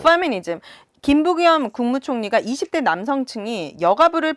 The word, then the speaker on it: 페미니즘: 그러면 이쯤에서 사실 페미니즘 되게 많이 말씀하셨는데 F로 발음해주세요. 페미니즘이라고. 페미니즘.